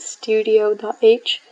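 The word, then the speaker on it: stdio.h: And now if we go to C, we have this, I pronounce it studio.h.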